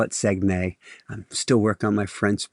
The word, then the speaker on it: Saguenay: They call it Saguenay. Still work on my French pronunciation of things.